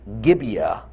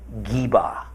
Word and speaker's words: Gibeah: meanings in this case what we in English say as Gibeah is actually more pronounced something like Jeeva Jeeva the other location